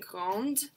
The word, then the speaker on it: grand: When we're saying grande, we pronounce the D. When we're doing the masculine, when we say grand, tall, we don't say that D.